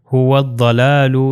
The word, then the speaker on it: هو الضلال: سے مل جائے گا۔ نیکسٹ ایگزامپل بھی اسی طرح هو الضلال، یہ جو واو جو ہے ضاد سے مل جائے گا اور یہ الف لام تلفظ نہیں ہوگا، تو اس کا پروننسیشن ہو جائے گی هو الضلال۔ اب ضاد کا آپ